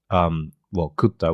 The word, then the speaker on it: QTTA: Yeah, a little bit of a pun because it sounds like the Japanese word kutta, which means I ate it, or I ate it, we ate it, or something like that.